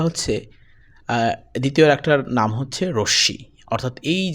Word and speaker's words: রশ্মি: অনেকে এই যে রশি এটার নাম রশমি উচ্চারণ করে। এই উচ্চারণটা ভুল। এটা হচ্ছে রশি প্লি প্রিয় বন্ধুরা এখন